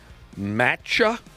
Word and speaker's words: matcha: Matcha.